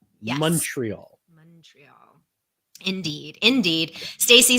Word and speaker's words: Montreal: And so for those of you listening, watching, you basically pronounce the O in Montreal as a U. Yes. Montreal.